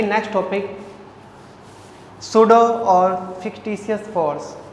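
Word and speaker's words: pseudo: Let's see next topic, सूडो और fictitious force या आभासी छद्म बल। इसका ध्यान रखना, सूडो बोलते हैं, हालांकि स्पेलिंग पी से स्टार्ट होती है पर पी यहाँ पे साइलेंट है।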